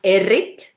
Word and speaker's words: Errit: It's Errit. Errit. Very strong R.